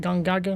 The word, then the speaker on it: Gongaga: a jungle shallows Gaga G Gaga is how pronounce it gang Gaga that's not how I used to pronounce it at all but what his words